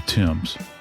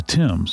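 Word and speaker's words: Thames: It's actually T H A M E S, but it's the Tims. Sounds like a guy's name, Tim.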